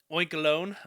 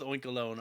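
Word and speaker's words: Oinkologne: I'm going to go with Oinkalone. I don't know if I'm saying that wrong, but that's what I'm going to go with anyway, because it's spelled like cologne at the end.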